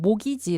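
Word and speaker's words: mortgage: 입니다 자 그러니까 여기서 티가 묵음 처리 가 됐죠 4 몰기 시 도 마찬가지고 4부터 하실 도 마찬가지고 한국에서 그대로 사용을 하고 있어 얘는 모기지 라고 판국에 서 발음 안하구요 얘는 싸 보타 주라고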